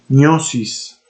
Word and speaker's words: gnosis: El gnosticismo, en sus múltiples variantes, proponía una falsa gnosis gnosis, sería la pronunciación correcta, sí, una gnosis, porque pues estamos hablando en latín, o un conocimiento esotérico reservado para una élite de iniciados, los neumáticos o espirituales.